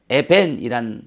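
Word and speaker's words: אֶבֶן: 돌 돌 자 여기 돌이란 단어는 에벤이에요 에벤 에벤이란 단어 우리 자주 했잖아요 그렇죠네 자 에벤이란 단어가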